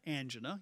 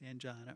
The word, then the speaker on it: angina: called angina petris and also it could be pronounced angena you see here it both ways angina or angen literally means